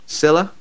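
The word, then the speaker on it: Sylla: So Darren Bent's left, Vyman's gone, Loughton's gone, Sailor, how would you say his name? Silla.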